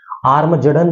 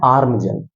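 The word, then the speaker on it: Armageddon: आर्मजडन नहीं बोलना इसको, इसको बोलना है आर्मजन।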